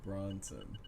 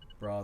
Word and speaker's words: Brosnan: Pierce Brosnan or Bronson? Brosnan.